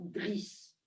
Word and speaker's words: Driss: Gravement, il déclara au commissaire que je m'appelais Driss, avec 2 S, s'il vous plaît, Idriss en arabe, mais on prononce Driss, que j'étais bien son fils et qu'il était content de moi.